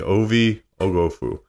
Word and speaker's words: Oghoufo: You look at the name, think it's going to be hard to pronounce. It's actually very easy. Ovie Oghoufo.